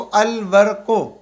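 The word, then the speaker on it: الورق: तो ठीक हो गया यहां पर देखो अल वको अल अलिफ लाम के साथ मिल रहा है अल वको वर्क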